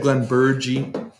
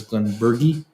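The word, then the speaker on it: Glenburgie: talking about correct pronunciation i always said glenn burgey and i was educated and it is glenn bergie but um it's hard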